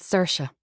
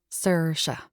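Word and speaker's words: Saoirse: It's pronounced Cersa. Like Cersa Ronin. Cersa.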